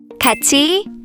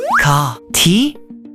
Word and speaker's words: 같이: So wouldn't it be ka, ti? Oh, you remembered linking sounds. That's very impressive. But in this case, a different rule is being used.